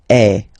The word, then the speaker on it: es: Okay, and for tu, then you've got this combination of letters. Okay, but then basically the sound you will pronounce or you will produce is est. Okay, tu es.